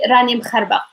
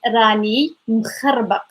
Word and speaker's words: راني مخربق: We say rani mkharbaq. This is hard for pronunciation because there is kh and q sound, but you just need to know like how slow or how fast you have to go.